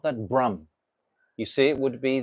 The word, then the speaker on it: Brahman: the soul is really Brum when we say Brum you understand what that means books he's written